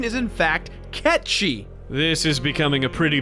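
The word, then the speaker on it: Cait Sith: it gets really annoying dude the game calls Kate Sethe Kate's it but the correct pronunciation is in fact catchy this is becoming a pretty big mess REME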